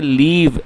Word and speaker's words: live: LIVE को लिव पढ़ेंगे, वहाँ पे आपको उसको लिव पढ़ना है, और ये जो है इसको लीव पढ़ेंगे।